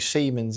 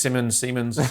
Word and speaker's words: Simons: If it's not working for Xavi Simons, Dino, I'm assuming Siemens isn't the approved pronunciation for that. Is Simons, sorry, yeah.